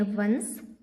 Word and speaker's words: once: साथ ही साथ हम इसका उच्चारण देखते चलेंगे ताकि आप भी उच्चारण करना सीख लें। So let's start. ONCE इसे हम पढ़ते हैं वंस।